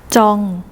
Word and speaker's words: 정: 쫌 좌우 뼈 어떻게 점순이 이것도 한번 어떻게 발음하는 거에요 쩡 쩡 쩡 아 다 들으셨죠 자 어쨌든 탈